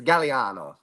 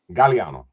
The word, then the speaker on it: Gagliano: Is it Gagliano? So it's actually, so phonetically, you are correct. However, it is Gagliano. Gagliano. Okay. Yep, Gagliano. All right. Yeah, so the second G's kind of silent in it.